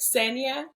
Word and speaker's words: Xenia: So it would be like Xenia. And the only reason why it's easier for me in Spanish is because it's you just like exactly how it's spelled.